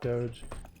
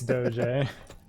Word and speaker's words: Doge: a character called Doge which people like to call Doge because it's spelled like Doge it's not Doge it's Doge um we don't get